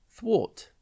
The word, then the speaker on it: thwart: It is pronounced thwart, and it is spelt Thwart. Think th and then wart.